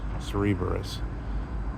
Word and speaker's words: Cerberus: the classical um Greek sense, the um Cerberus, Cerberus. Um and that's the right pronunciation.